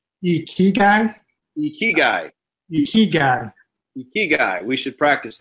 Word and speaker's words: ikigai: Ikagi? No, ikagai? Ikigai? Ikigai.